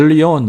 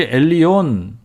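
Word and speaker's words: עליון: 하나님의 에 타이틀 엘 엘리온 혹은 헬렌 이라는 말인데 엘리 오늘 빨리 발음하면 엘리온 엘리언 엘리언 엘리온 이 되죠 멜리언이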